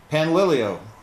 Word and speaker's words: Panlilio: It's something to teach her students how to pronounce our last name, which is Pan, like a frying pan, Lily like a flower, and O like O. Panlilio.